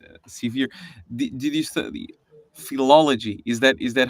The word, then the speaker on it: philology: Did you study philology?